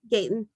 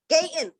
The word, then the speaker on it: Gaton: from texas miss garage am i pronouncing your last name correctly gayton gayton yeah and okay miss kiara